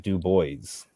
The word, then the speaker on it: Du Bois: Bois is it du Bois or is it Dubois Dubois specifically said that it's pronounced Dubois because people asked him that all